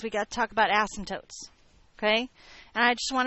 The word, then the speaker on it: asymptote: got to talk about asymptotes. Okay? And I just want to remind you the rules about asymptotes. Number 1, we do not unnecessarily stress the first syllable of the word asymptote.